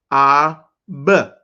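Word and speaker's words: אב: The first word was father, and it is, let's pronounce it, ab, dropping the A at the end.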